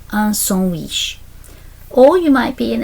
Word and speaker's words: sandwich: Looks the same as English, said differently, pronounced un sandwich.